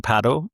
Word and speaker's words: padel: But, strictly speaking, paddle is how you say it in other countries.